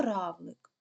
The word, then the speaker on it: равлик: поставити наголос гукаємо слово Равлик Равлик куди падає наголос наголос падає на перший склад а склад Ой на